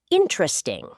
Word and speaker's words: interesting: The word is interesting. Many learners pronounce every syllable very clearly. But native speakers often say it more naturally. Interesting.